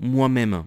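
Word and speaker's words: M'aime: Et cette BD ça s'appelle Allô moi-même, mais moi-même pas, ça s'écrit pas comme tu le penses, ça s'écrit M apostrophe A-I-M-E, du verbe aimer.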